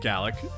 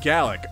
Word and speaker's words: Galekh: and you grin it gallock you're great malik and gallic okay it rhymes are they gonna be